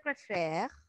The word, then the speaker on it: préfère: Si on conjugue le verbo préférer pour la première personne, je préfère. No estamos pronunciando la última sílaba, ¿ok?